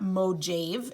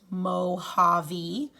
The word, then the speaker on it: Mojave: spanish word and oftentimes the j in spanish is pronounced with an h so it's not mojave it's mohave desert with one s